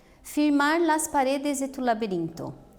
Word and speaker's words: laberinto: Veja que elas são as penúltimas sílabas mais fortes e por isso elas estão destacadas, tá? Então, ó, despacito, despacito, paredes, essa é igual no português, né, ó, paredes, laberinto, também é como no